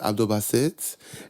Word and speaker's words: Basit: what's funny is that I kind of Americanized the pronunciation of baset too my original given name was Abdul Basit it's a Nigerian name and my like Nigerian family my black American family always call me a variation of baset and Basit but